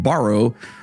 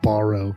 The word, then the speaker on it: Barrow: the remote village of Barrow. Oh boy, also known as it's Barrow, not Borrow.